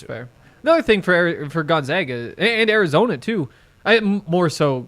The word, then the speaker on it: Gonzaga: marissa is actually a gonzaga fan um can you give us a couple things how do you pronounce it gonzaga not gonzaga okay and then what